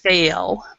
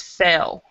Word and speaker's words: fail: on pronunciation is is this word fail it's fail okay because what you're what what I'm hearing is fail and there's there small it's a subtle difference between fail and fail so fail yeah so